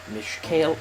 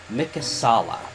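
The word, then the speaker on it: Mikasalla: Last time we made it to, Mishkale. I am going to horribly mispronounce this town's name, and I don't know why. Re-enter it. Mikasala. Wow, I was way off.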